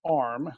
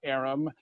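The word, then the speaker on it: AReM: for direct access and the trade association is actually pronounced arm not arum not aram many of you will pronounce it differently there is a very interesting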